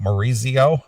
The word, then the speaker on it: Maurizio Iacono: Goliath and the singer Maurizio iacono well that's how you say it Maurizio Maurizio okay uh in